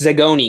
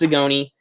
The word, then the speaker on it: Zagoni: I said it right this time. I finally said it right. Okay, it's Zagoni because I asked them. It's pronounced Zagoni. Don't worry, I'm not going to keep mispronouncing it.